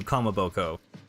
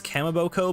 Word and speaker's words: Kamaboko: not just tied to Kamaboko. I previously pronounced it as Kamaboko, but Kamaboko, I believe, is more correct.